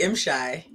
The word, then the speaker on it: M'Shai: well I'm doing well it's actually M shy I want to make sure I say it right because I said sh Shay just mess it up guess what confusing it's